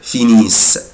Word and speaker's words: finissent: il elle finissent mais je ne prononce pas ENT ومش بنطق ال ENT، بقولها كده finissent finissent.